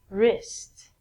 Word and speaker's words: wrist: rest of your arm so the W again is silent okay moving right along